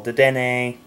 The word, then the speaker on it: Dedenne: That's how it's pronounced, people. Dedenne.